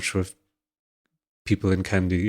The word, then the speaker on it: Kandy: So our last big monarchy was in Kandy, which is the center of the country. And then now, I'm not sure if people in Kandy. It's Kandy with Kandy spelled the English way, but with a K.